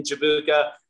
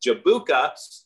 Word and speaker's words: Jabuka: European I think uh the word is spelled that way with a J is pronounced like a y and and it's like